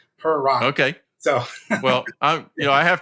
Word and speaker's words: Pieratt: I used to tell my students it's pie like a pie and rat like a rat, like it's how you spell it. Purr like a kitten and rotten like an apple. Pieratt.